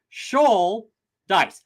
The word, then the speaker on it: Schultheiss: it's helpful and convenient the way that we do it in my family is Shaw like a shol of fish TI rhymes with dice so Sha dice I'm a big D